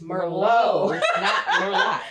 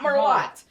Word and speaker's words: Merlot: thing I was like grandma is Merlot it's not more light so all of you that don't know how to pronounce that it is called Merlot and today we are